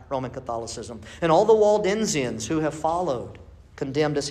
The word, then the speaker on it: Waldensians: There were others like the Waldensians, and rightly pronounced Waldensians, by Peter Valdo, who stood against, as a priest early on, he stood against priesthood.